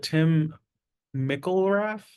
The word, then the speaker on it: Tim McIlrath: Is it Tim McIlrath, lead singer of Rise Against? Totally perfect pronunciation.